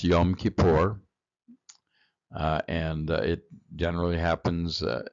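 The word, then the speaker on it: Yom Kippur: uh to find out more about it uh pronounce yum kipor uh and it generally happens in October October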